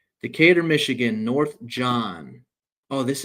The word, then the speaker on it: Decatur: You know, when I first heard about that city, I called it Decator. And uh my friends laughed at me, but I I don't know how to pronounce that. Decatur.